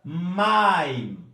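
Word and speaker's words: מַיִם: Eu tenho a palavra maim. Maim. Percebam onde é que está a tonicidade? No maim. Não é no im, não é maim. É maim. Maim.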